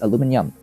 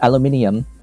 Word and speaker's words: aluminum: you say that word it's aluminum like titanium aluminum not aluminium aluminium that that is that is